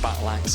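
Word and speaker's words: Batlax: It sounds like Battle Axe, but it's spelled B-A-T-L-A-X.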